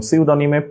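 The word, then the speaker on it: pseudonym: So tsunami, টি tsunami, pneumonia, P pneumonia, psychology, P psychology, pneumonic, M pneumonic এবং সিউডনিমে পি সিউডনিম।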